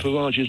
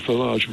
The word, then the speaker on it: Farage: The pronunciation of Farage's name correct. It's Simon, not Farage, it's Farage. I think you'll find he said it's either.